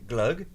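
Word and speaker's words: gløgg: G and that's do I say it right glug yeah yeah you do yes how is it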